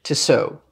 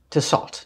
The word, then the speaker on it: Tissot: So this is the Rike knife Tissot, or Tissot, depending on how you want to pronounce it and where you come from.